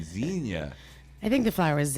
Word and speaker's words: zinnia: sends Enya right yeah xenia the other flower yeah I've been saying it wrong this whole day zinnia I think if I